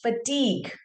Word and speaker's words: fatigue: So it's fatigue. Fatigue and not fatigue.